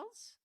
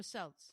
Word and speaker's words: Celts: It's ridiculous because the Kelts, Am I saying it right? Kelts or Celts? I think so. No, I think it's Kelts. Okay. Yeah, because it's Celtic.